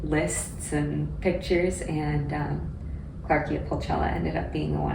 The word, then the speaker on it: Clarkia pulchella: how do you say that title which is claria Pella so is that a a plant species from